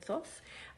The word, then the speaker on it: Thoth: knows how to say that word how to pronounce the word Thoth I say Thoth but feel free to pronounce